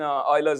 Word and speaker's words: Euler: an eulerian circuit in euler's honor and of course remember it's euler okay so you should always